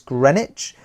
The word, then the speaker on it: Greenwich: 17th century, the Queen's House at Greenwich. The W is silent, it's Greenwich.